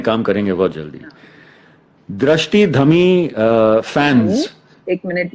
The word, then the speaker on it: Dhami: Drashti Dhami fans. एक minute, you better pronounce my name right. No, I said Dhami.